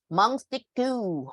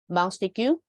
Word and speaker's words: Montesquieu: How many syllables are there in his name? Think about that. Okay, you can type your answer, but meanwhile, Lucas bye. Yep. What does Montesquieu promote? It's like three branches or something like that. Ah, yeah, 3 syllables, right?